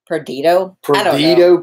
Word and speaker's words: Perdido: How do you pronounce that? Perdido Keys, which means lost keys.